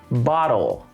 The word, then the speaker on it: bottle: Yes, we do use that flap T to make it a little more, to make it a little easier, I guess. You could say bottle, but we wouldn't say it like that anyway. But anyway, even with the flap T, bottle, I'm hitting it pretty hard. I'm making sure it's very clear.